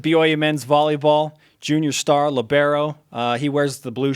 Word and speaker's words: libero: I do yeah and it's labero we determined that last time you were on the show the proper pronunciation our Italian stat guys claims that the libero libero word started in Italy so it's actually libero yeah so I don't